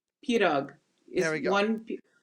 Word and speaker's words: pirog: pirog There is we go.